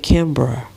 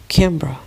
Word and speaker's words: Kimberly: It's actually said Kimbra. Kimbra. That's how you say Kimberly.